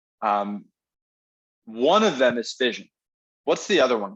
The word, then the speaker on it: fission: into smaller pieces right fission rhymes with division right and that's that's